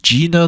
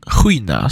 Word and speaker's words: Gina: by the name of Gina dawi or that's how we'd say it in English English um in Swedish Gina is pronounced Hina so Hina Dai um